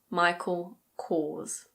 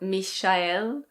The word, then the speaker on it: Michael Kors: This one in British English is Michael Kors. Michael Kors. It's not Mish-ah-el. It's Michael. Michael Kors.